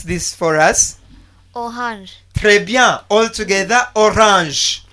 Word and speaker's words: orange: Yes, Hirali, can you pronounce this for us? Orange. Très bien. All together, orange. Orange.